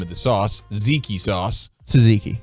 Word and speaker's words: tzatziki: tzatziki tzatziki sauce uh how do you spell it t z a z oh i think there's a in there there's another tea there's two teaspoons wow that's a lot of teas a lot of silent teas man and so many